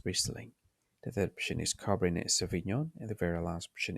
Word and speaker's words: Cabernet Sauvignon: Um, the, the pronunciation sounds very much like you speak like a France. Okay? So yeah, Cabernet Sauvignon.